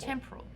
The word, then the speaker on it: temporal: temporal Aura extractor yeah Accent on the first syllable temporal cuz it's only temporary yeah exactly what does